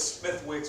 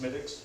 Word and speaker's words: Smithwick's: Smith, it's Smithwick's, but it's pronounced Smittix. Smittix, okay. Yeah. My mom was like, she went to Ireland, I was like, yeah, it's not pronounced Smithwick's, it's Smittix.